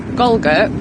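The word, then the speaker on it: Galgate: got a little village called golgo which is like it spells gal gate so no one says that right and then you've got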